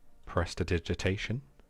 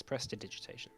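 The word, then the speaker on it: prestidigitation: of that spell again presta digitation let's press vegetation no it's pressed to digitization try saying that out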